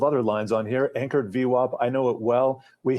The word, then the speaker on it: VWAP: Yeah, the anchored volume weighted average price, pronounced Vwap, is simply a representation of the average price paid for the stock from any period in time.